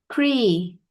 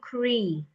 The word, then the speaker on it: agree: agree, G. G. G. Gree. agree, You're saying cree. All right. You're pronouncing cree. I want you to pronounce the G.